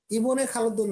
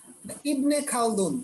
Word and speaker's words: ইবনে খালদুন: ইবনে খালদুন না, ইবনে খালদুন। একটু উচ্চারণটা এভাবে করতে হবে, ঠিক আছে?